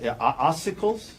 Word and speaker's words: ossicles: The um and I'm I guarantee I'm going to pronounce some medical words wrong, but ossicles ossicles, is that a word?